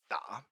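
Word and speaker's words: 打: Uh we get the pronunciation I guess from the from the nail because it's pronounced da and it means to hit but also like to play or to type or many many other things as well.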